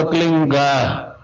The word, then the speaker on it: क्लीं: की मात्रा और बिंदी, उसका उच्चारण होगा क्लींग। गा की ध्वनि निकलेगी पीछे। आप अंग बोलो, यहां स्ट्रोक लगता है, अंग बोलो।